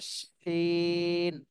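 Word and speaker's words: شين: এরপরে আশাম নূর আপু, শুনতে পাচ্ছেন? আপনি এই হরফটা উচ্চারণ করেন। শিন। আরেকটু শাসা শব্দ হবে, শিন। আরেকবার বলবেন। শিন। জি, তাহলে শিনের ক্ষেত্রে কিন্তু বাতাস বের হবে এবং শাসা শব্দ হবে।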